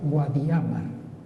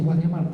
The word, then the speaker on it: Guadiamar: en el siglo XV todavía se pronunciaba se acentuaba guadiamar Cuándo ha comenzado a decirse guadiamar la verdad es que